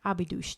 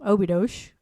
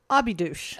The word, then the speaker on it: Óbidos: Well, we believe it's Óbidos. Yeah, O's at the end are pronounced in a ooh kind of way. And an S is a sh.